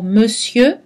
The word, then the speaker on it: monsieur: mieux ne fait attention dans le mot monsieur le r ne se prononce pas on trouve donc la